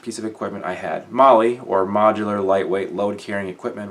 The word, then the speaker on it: MOLLE: I always pronounced it Molly, or Molly, depending on whether it was in my head or out loud, I guess.